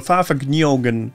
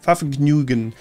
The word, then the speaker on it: Fahrvergnügen: And the GN is almost like a Nyo sound. So Fahrvergnügen, Fahrvergnügen, Fahrvergnügen, Fahrvergnügen.